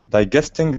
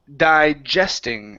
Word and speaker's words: digesting: this word here is digesting instead of digesting Gest digesting dinner digesting dinner uhuh the stress is at the beginning instead of digesting it is digesting digesting uhhuh good good